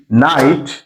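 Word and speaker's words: knight: না কেন রিসুল হওয়ার আছে নলেজ নো নি নাইট নট এগুলোতে কি এর উচ্চারণ হয় না কেন এই সব সমস্যার সমাধান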